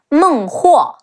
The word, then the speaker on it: Meng Huo: Also, let's not forget King of the Nan Man, Meng Huo, Me Eng, Meng, He Wu O, Huo. Meng Huo.